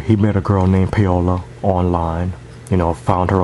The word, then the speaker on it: Paola: Now, is this pronounced PAOLA, not Paula? PAOLA. So I guess it's PAOLA. Okay, so let's just go with PAOLA, okay?